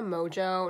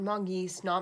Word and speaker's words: Mongeau: footage and I realized I pronounce her last name wrong it's Hannah mojo not monkey snot Mongoose sorry oh she